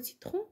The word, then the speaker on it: citron: إلا في كلمة citron se prononce C.